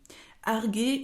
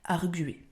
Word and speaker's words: arguer: verbe arguer alors attention arguer ou arguer je vais revenir juste après sur la prononciation donc sachez que les deux se prononcent mais qu'on dit plus souvent arguer et vous avez donc